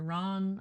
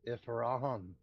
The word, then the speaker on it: Rahan: Ron, I'm guessing. I don't know how it's to say. Ron. It's Rahan.